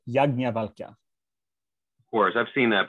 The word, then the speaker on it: Yajnavalkya: Yajnavalka? It looks like a yaj, doesn't it? Yajnavalka. Right. The transliteration is weird because it is technically a conjunct of the aspirated ja, but it is pronounced Yajnavalka.